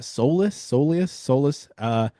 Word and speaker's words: soleus: We since have gotten an update, and he actually did sustain a right soleus. How do you pronounce that? Soleus.